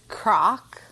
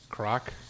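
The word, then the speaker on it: kraak: squat in dutch is croc croc croc yeah like a crock pot i mean it's spelled differently but yeah that's how it's pronounced or like croc like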